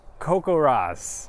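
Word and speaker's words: CoCoRaHS: Coco Ros? Coco Rosz.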